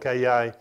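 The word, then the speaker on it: καιρός: was written in, the Greek word for that is spelled K-A-I-R-O-S or Kairos.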